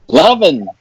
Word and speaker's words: Lovan: It's actually Lovan. Lovan. Like the emotion.